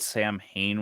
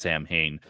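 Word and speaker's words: Samhain: we talking about actual that's how the English people pronounce it Sam Hayne got it got it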